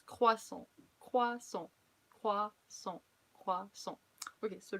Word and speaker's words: croissant: So like you guys say croissant, but please don't say croissant anymore. It's croissant, croissant, croissant, croissant.